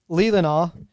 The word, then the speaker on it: Leelanau: all so 16 miles offshore from Lake Michigan's lilanu Peninsula is will you you'll find Leland how do you say that Dan is it legal and all yeah yeah Leelanau Peninsula is where is where you'll find South